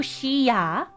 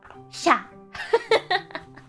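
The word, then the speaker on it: しゃ: But she needs to sound like sha. So it's not you can't do shi ya. It has to be sha.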